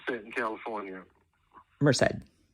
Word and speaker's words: Merced: And how do you pronounce that in California? Merced. Merced.